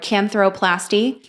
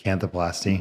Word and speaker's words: canthoplasty: I can't pronounce that word. Canthroplasty. Canthoplasty.